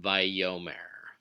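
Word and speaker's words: וַיֹּאמֶר: It's pronounced vayomer. Vayomer. So the stress is on the yod and the o vowel.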